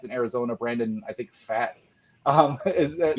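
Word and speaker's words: Pfaadt: Brandon, I think Fat is that how you pronounce it?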